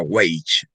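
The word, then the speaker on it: wage: es B doble Ese es el acrónimo del inglés de doble age que se pronuncia weich no es sino el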